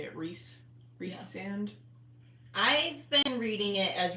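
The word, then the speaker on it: Rhysand: you say it Reese reand I've been reading it as reand reand so reand I've been going off of like Reese like the British pronunciation yeah and then I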